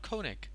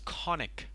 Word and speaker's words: conic: one coning right no it's not Koenig its conic koan Carnac say there's a